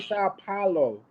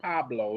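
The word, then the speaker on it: São Paulo: Hey, I go to Sa Paulo. Not Pablo.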